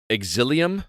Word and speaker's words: Exilium: This game is pronounced Exilium.